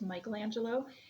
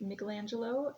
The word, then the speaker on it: Michelangelo: you hear it pronounced Michelangelo it is um if we're sticking to the Italian pronunciation it would be Michelangelo his last name was